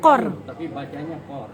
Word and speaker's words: Kaur: belakang Nama belakangnya apa Kaur Kaur Kaur dibacanya chord kord ertinya apa konsep Princess